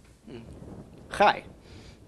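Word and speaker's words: חי: Chai. Yes. First we pronounce the ch of the chet. followed by the A of the vowel, followed by the Y of the Yud.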